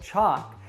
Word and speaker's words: chocolate: so it's rus respect now how about chocolate actually a couple interesting things happen here now the stress is on the first syllable chalk and the last syllable is unstressed now what about the second syllable we actually drop the